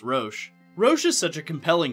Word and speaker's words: Roche: to him for clarifying that it is actually pronounced roche rosh is such a compelling character not for